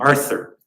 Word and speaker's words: Arthur: gave me the name Arthur but the problem is the Dutch does not have the th sound so my parents could never pronounce my name uh my mother still